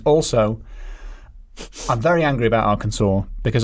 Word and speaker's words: Arkansas: I can't do an Arkansas accent. Also, I'm very angry about Arkansas because I have been pronouncing it Arkansas right up until yesterday. Oh, no. I mean, it 100% reads like Arkansas.